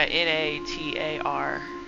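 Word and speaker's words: Natra: That's Natara, right? Like, yeah, sure. Squint? Aw, man, that sure was stale. Well, I'm gonna enter the game. You know game. What? The last A is silent. It's Natar.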